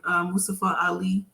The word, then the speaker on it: Mustafa Ali: And even with Mustafa Ali, because that's how they pronounce it.